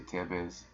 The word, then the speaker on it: Thebes: to call it Pheebs I've heard it pronounced Thebes most of my life but you know you listen to these historians nowadays and I'll say Tevez all kind of stuff because it depends on where you are there appears the name